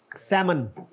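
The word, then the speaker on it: salmon: Germany अच्छा जी next ये fish होती है एक इसमें एक लेटर साइलेंट है वच वन is that सेमन exactly आगे है जी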